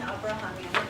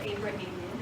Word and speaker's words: Abrahamian: Hi everyone, I'm Abrahamian, that's how you pronounce my last name, or Abrahamian, however you prefer.